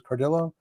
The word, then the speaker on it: Cardillo: am I pronouncing your last name correctly? Is Cardillo?